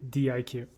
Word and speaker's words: diQ: but uh yeah he's actually di Q all right so the players are gonna just leave the IQ in D he wants his nickname to be pronounced di q or to be read di q yo yo yo good